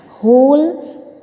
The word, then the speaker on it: whole: Now here W is silent, so we will not take out its sound, so we will read it as whole bowl of porridge.